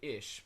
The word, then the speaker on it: ich: it's spelled ik k now the Germans they say ish but in some dialects